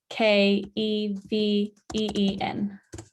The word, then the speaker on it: Vinkeveen: And place Vinkveen, which is Vinkeveen. Yeah, because when the Dutch, they pronounce V, it sounds like a.